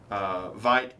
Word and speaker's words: Veidt: Oh, Adrian Veidt.